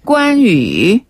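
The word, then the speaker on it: 关羽: 발음하면 였죠 산구네 그리고 우리가 조조 배웠잖아요 조 발음은 차오차오네 맞아요 오오 유비는 유비유비 관우 자 리우베 그렇죠 관우는 관위 관위네 재갈 공명은 주거량 주거량 그런데 장비를 우리가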